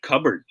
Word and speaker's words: cupboard: to say this one yan cupboard we don't pronounce the p okay except cover if